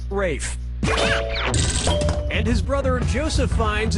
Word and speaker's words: Ralph: Ralph has to Ralph, Reef has to Ralph, Rolf has to Ralph, or Rafe has to Ralph? Yep, Rafe Fiennes' first name is spelled like Ralph, but pronounced Rafe.